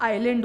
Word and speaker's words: aisle: जो ISL है ये आपका आइलैंड होता है। आई होप ये डाउट क्लियर हो गया हो, बट ऑलवेज रिमेंबर प्रोनाउंसिएशन में इसलिए नहीं कहते हैं, आइल इज द करेक्ट प्रोनाउंसिएशन।